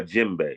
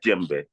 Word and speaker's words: djembe: about this drum here is actually called a jimbe it's spelled DJ e m b e but it's pronounced G the D and the J is R run together so you say jimbe okay and now that drum there do you